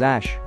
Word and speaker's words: Æ: explained to him that AE is pronounced as Ash